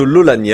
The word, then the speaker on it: Laulanié: d'ailleurs philippe de laulanié bonsoir monsieur de laulanié alors est-ce que j'ai pas fait de fautes en de prononciation sur votre nom non c'était bon bon c'est parfait toujours